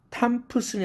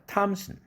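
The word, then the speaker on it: Thompson: 응으로 영국의 음으로 바뀌어서 펌킨이 아니라 펑킨 이렇게 발음하는 것이죠. 탐프슨이 아니라 탐슨 심프텀 증세 이런 뜻인데 이것을 symptom temptation이 아니라 temptation 트 사운드입니다.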